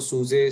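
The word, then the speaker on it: SUSE: भी इंटरप्राइज है तो सूजे सूजा सूजी सूज अलग अलग नाम से बोला जाता है एंड देर इज नो रंग और राइट ट कुछ भी प्रोनाउंस करो बट सूजे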